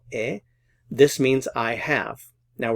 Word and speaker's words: he: So Notice it's yo he, the H is silent. You don't pronounce the H, so yo he.